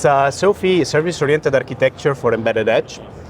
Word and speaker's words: SOAFEE: It's SOAFEE, Service-Oriented Architecture for Embedded Edge.